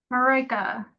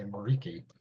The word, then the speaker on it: Marika: Marika. Marika. I always want to say Mariki.